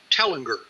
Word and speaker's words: Tellinger: Tellinger. It's T as in Tom, Ellinger.